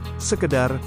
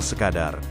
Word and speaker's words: sekadar: yang benar adalah imbau yang kedua sekedar seharusnya yang benar adalah sekadar yang terakhir nasehat seharusnya